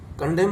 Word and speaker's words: condemn: कंडेम माने निंदा करना, तो CONDEMN, तो N इसमें भी साइलेंस वर्ड होता है।